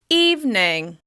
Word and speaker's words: evening: Remember to stress that first syllable by making the vowel sound longer, louder, and higher in pitch with extra clear mouth movement. You're going to relax on the second syllable.